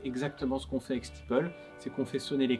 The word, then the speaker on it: Steeple: très bien la prononciation, il n'est pas rare d'entendre des steeples avec un S à la fin, ou des Steeple, ou